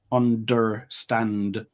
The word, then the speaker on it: understand: And in the word understand, there's 2 D sounds in that word, understand. You're not pronouncing either of those.